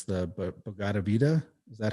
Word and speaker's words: Bhagavad Gita: I can't pronounce it right, but it's the Bhagavad Gita. Is that how you say it? Something Oh, like the that? Bhagavad Gita, yes, right.